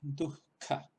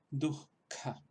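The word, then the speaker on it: दुःख: Entonces se pronunciaría así como dujka, dujka.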